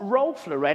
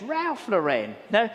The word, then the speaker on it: Ralph Lauren: And she said, it's not Rolf Lauren, it's Ralph Lauren.